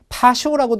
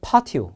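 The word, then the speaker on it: patio: the me on the 파티오 파시라고 발음하는데 보통 파티오 이렇게 얘기를 해요 파티오가 보통 우리 쉽게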